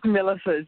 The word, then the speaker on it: Milasas: So my guest today, Milasas. Tell me, am I saying that right? It's Milasas, but that's fine. Everybody Milasas. Gets it wrong. It's not the easiest name in the world, so it's fine.